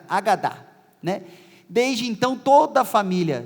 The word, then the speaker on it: Hagadá: o ritual de Páscoa, conhecido como Hagadá, na verdade é Agadá, hoje eu ouvi uma pronúncia mais correta, Agadá, Desde então toda a